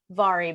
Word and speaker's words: Vari: I love Vari McFarland. Yes, it's spelled like Mahari, but it is Vari.